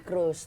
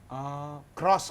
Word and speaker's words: CROOZ: Nongkrongnya di Cruise Duren 3. Cruise? Cruise apa? Clothingan. Cross. Cross. CROOZ. Yeah. Oh, cross ya bacanya.